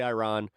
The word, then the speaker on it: Iran: Um, so Iran I'll just whatever I I pronounce it differently. It's technically Iran, but so they uh